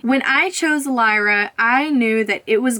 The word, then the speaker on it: Lyra: I believe it's pronounced Lyra just like the constellation that it was named after don't choose something that's